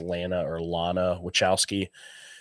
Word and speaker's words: Lana Wachowski: Like, so I think it was, I don't remember how to pronounce her name. It's Lana Wachowski.